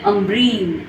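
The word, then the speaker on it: عنبرین: انبرین به معنای بوی خوش میشه امبرین. امبرین نون تبدیل به میم.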